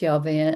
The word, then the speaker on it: Yahweh: They'll go, "Yahweh." Y vave the tetrogrammatron which we pronounce Yave and the Hebrew people actually don't pronounce at all.